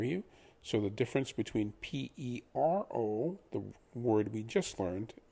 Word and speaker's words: pero: Pero means but. The word but, as in but I am a good Spanish speaker, is pero, P-E-R-O. Similar to the last word, the word perro, the word for dog, is P-E-R-R-O. In essence, you're adding a length in the pronunciation of the word R. So instead of pero, it becomes perro.